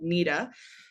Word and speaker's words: NEDA: Unfortunately, though, the National Eating Disorder Association, people spell it NEDA, phonetically it looks like NEDA, but it's called NEDA, has been in the business of causing harm